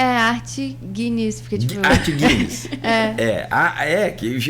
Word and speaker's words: Agnis: Que é isso mesmo, a pronúncia? É Arte Guinness, porque tipo... Arte Guinness. Que eu falei Genis, mas de repente pro ouvinte captar isso aí e dar um busca lá.